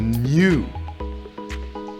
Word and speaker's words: gnu: A new. I'm not pronouncing it GNU. That's something different. That's a free operating system. I'm saying new.